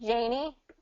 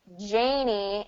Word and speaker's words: Janie: n n y right so there's Janie and there's Jenny yeah so there's going to be two different pronunciations there Janie is GNA have a Jenny is gonna have a Jen so E versus a so Janie Jenny jie